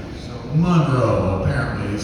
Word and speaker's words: Monroe: he personally corrected me once with how to pronounce his name when I called him Mr Monroe so Monroe apparently is how you say it and um